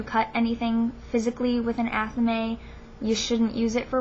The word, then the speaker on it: athame: I do not have an athame, and I pronounce it athame.